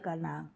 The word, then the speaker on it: Canaán: No, los fenicios vienen en otra oleada, pero ellos son los canas, fundadores del Canaán, que se escribe K-N'-N y se pronuncia Canaán.